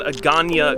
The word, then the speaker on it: Hagåtña: to show you around agania guam it's spelled like this not pronounced that way but this is not